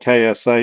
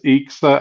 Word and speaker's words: EXA: And when I did the unboxing video, I mispronounced it. I called it KSA. It is EXA.